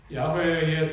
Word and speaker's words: 야훼: 얘기하셨는데 그 이름은 여호와입니다 히브리 발음으로 여호와는 야호의 야훼의 뜻은 존재하는 분 존재케